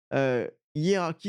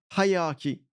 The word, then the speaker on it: hierarchy: Hierarchy is clear, I said. Starting with a hard H for high, so as in high. So, hierarchy.